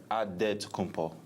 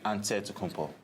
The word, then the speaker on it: Antetokounmpo: In a Greek way, you gotta say with a D, so it's Antetokounmpo. But in the Greek way, you say with the NT, like Antetokounmpo.